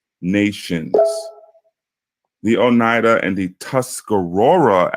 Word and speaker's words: Tuscarora: the Oneida and the Tuscarora as it's pronounced were pretty big Nations